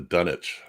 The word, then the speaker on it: Dunwich: about that but that's in England they pronounce it the Dunwich Horror no W no worry there's a